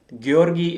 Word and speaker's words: Georgi: so Georgie versus Jerry any Bulgarian here Georgie is the correct pronunciation I guess all right how long